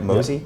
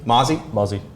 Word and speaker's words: mozzie: Did I pronounce that right? Mosey? Mozzie? Mozzie. This one kind of sounds Cheers? like the actual word. No. No, come on. Mozzie. Like mazel tov.